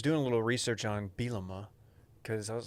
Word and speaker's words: Bielema: Bielema.